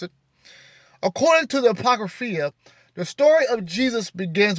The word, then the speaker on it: Apocrypha: According to the Apocryphy, some people say the Apocrypha, however you pronounce it. According to the Apocrypha, the story of Jesus begins with his maternal grandparents, Joachim and Anna.